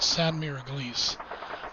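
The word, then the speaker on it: Sainte-Mère-Église: was a place called samira gleese um which if i mispronouncing i apologize to all of our french friends but i'm pretty sure that's how you say it again this is a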